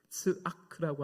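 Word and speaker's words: צעק: 이 동사는 히브리어 단어 츠아크라고 하는 말을 번역한 단어입니다. 이 발음하기 어려운 단어인데 츠아크 이렇게 됩니다.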